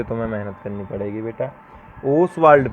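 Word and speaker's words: Ostwald: ओसवाल्ड process, ओसवाल्ड process, T silent होता है।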